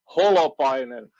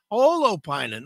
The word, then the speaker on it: Holopainen: And it sounds almost like people are pronouncing it like jalapeno. Right. How if I'm wrong, tell me what is it? Holopainen? Holopainen. Holopainen.